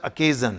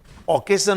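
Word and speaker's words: occasion: और next sentence है, her wedding was rather A seeded family अकेजन। देखिए इसका प्रोनाउंसिएशन अकेजन है, अकेजन, ओकेजन नहीं बोलेंगे, अकेजन।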